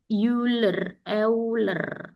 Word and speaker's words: Euler: E ini bacanya Euler.